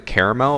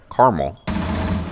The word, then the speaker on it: caramel: that people have caramel you either pronounce it caramel or you pronounce it wrong i remember talking to flanked about it and he's like oh yeah carmel like what did the